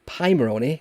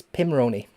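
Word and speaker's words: Pimoroni: i pronounce that correctly i always say pie maroni because it's a pie a raspberry pie it's pirates but no no it's pim like pims um it's pimeroni so i make sure i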